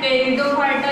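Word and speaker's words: Pteridophyta: हैं इसको, ठीक है, PET से लिखते हैं टेरिडोफाइटा का। तो पर बोला कैसे जाता है, टेरिडोफाइटा, ये दोनों साइलेंट रहते हैं, इंग्लिश की बात है, हिंदी में तो कोई दिक्कत है ही नहीं।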